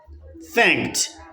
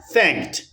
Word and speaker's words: thanked: Thank, it ends in K and then in past simple tense it takes ed, but the pronunciation is T. Thanked, thanked, thanked.